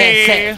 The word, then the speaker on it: Hesse: Commander Jesse. Hesse. You do not pronounce the J, it's Hesse.